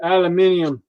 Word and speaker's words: aluminium: this one is not this one's aluminum or if you're in the uk aluminium apparently we say it wrong so whatever it's not